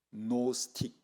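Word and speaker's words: Gnostic: 그래서 이거를 노스틱, 영어 노우 하면 알다 그런 거죠. 쓸 때는 원래 히랍으로 쓸 때 앞에 지가 더 있습니다. 그래서 그 노스틱. 그런데 그 지가 묵음되니까 노스틱입니다.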